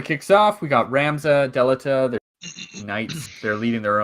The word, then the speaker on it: Delita: My brother used to call him Dielta. And it fucked with my head a lot because I'm like, it's spelled Delita. That's not right, man.